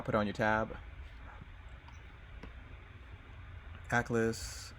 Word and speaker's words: Aklys: Atlas.